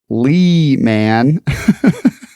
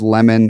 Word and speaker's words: Leman: out on the cast pronounce my name is Leeman so are you telling me I was right yeah you said Leman I thought it was lemon or Layman but it's lemon I'm